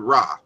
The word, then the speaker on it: Ra: So for example, as I mentioned earlier, the word Ra, which we say Ra, is really Rek or Rich. It's a Ch sound at the end of it.